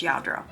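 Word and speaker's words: Lladró: Um, and it's spelled L L A D R O. So, but pronounced in Spanish, Yadro. So, yeah, this was quite a find. Quite a find. I have I hadn't found Yadro.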